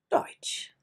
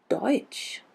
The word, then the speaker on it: Deutsch: compared to CH, because SCH simply makes the sound sh, like SH in English. Sh, the C is never pronounced. Like schade, Schuh, that shop, or maybe the most important, Deutsch.